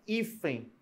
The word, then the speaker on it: hífen: eu tenho a palavra hífen eu tenho uma palavra próton ó hífen hífen é uma paroxítona a sílaba tônica é a penúltima e ela termina em